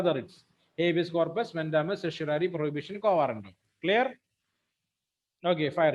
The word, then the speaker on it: certiorari: cryptoria, Not psoriasis, certiorari.